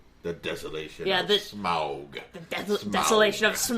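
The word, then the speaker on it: Smaug: Why do they not just say smog? Cuz smog is smog and it's different. I don't know. I think some people do say it closer to smog, but anytime you're hearing anyone talk about it who's actually involved in production, it's smoo.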